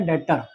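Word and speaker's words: debtor: और क्रेडिटर का उल्टा होता है डेटर। डी ई बी टी ओ आर बी इसमें साइलेंट होता है। डेटर बोलते हैं इसको।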